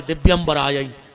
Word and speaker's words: दिव्यंबराय: करके चली जाती है तुमने लगे हो दिगंबर आय दिगंबर दो जने नग्न होके आओ जबकि उच्चारण है दिव्यंबराय हे माता तुम्हारे दिव्य